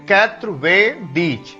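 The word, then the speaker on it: quatre-vingt-dix: सो इफ you want to tell 90 in French, the pronunciation will be 80 दीज, 80 दीज।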